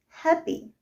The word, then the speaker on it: happy: So, if a word is a noun and it has 2 syllables, then the stress is always placed on the first syllable. Got it? For example, happy, happy.